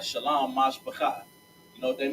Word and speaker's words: shalom: Shalom in Hebrew, Right. which is spelled, because we gonna clear the air on this one. It's shalom, not shalom, not shalom. It's shalom. Shalom makes absolutely no sense.